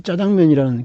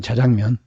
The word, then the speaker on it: 자장면: 근데 여러분 혹시 짜장면이라는 그 용어가 그 된소리라고 알고 있죠. 원래 국어식 발음은 자장면이거든요. 자장면.